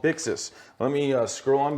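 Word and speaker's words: Buxus: some of the partners about this is called bixis let me uh scroll on back to make sure i i say it properly boxes i'm sorry b-u-x-u-s and i ended up downloading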